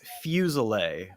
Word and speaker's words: Fuselier: Well, it is fusel, but many people pronounce it the way you pronounced it. Fusellet. I like it better. It's that, you know, it's that southern fake French, you know.